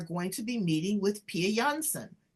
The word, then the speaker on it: Pia Jansson: We are going to be meeting with Pia Jansson. I said it right, but they pronounce it Pia Jansson here in the United States.